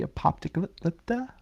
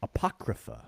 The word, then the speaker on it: Apocrypha: the root word uh that I probably can't pronounce correct of the the the apopica the the collection of books that aren't included. Oh, you know, I Tony almost it's um Apocrypha.